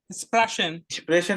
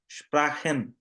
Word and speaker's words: Sprachen: স্প্রেশন না, দেখে পড়ো, স্প্রাখেন। Sprachen.